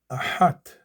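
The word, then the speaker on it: אַחַת: Two syllables here. Achat a chat or achat as some will pronounce.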